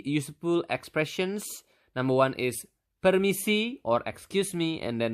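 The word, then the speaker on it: permisi: in basa you simply just need to say permiss okay how do you say it again per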